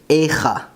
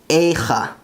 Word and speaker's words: איכה: The Hebrew name for the Book of Lamentations comes from the first word, Echa, Echa.